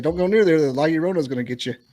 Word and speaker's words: La Llorona: Using the bathroom, like hearing y'all mispronounce La Llorona so bad. I think It's called a La Llorona.